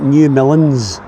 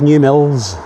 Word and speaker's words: New Mills: With me being from Glasgow, I would be inclined to pronounce that New Milns, but I believe it's New Mills. Correct me if I'm wrong.